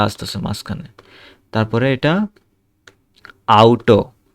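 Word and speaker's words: Auto: তারপরে এটা আউটো, ইংরেজিতে যেটাকে বলি অটো, এটা হচ্ছে যে আউটো।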